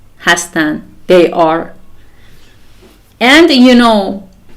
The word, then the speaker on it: hastan: the last inand and we say hastan and the pronunciation is the same as the infinitive hastan they are and you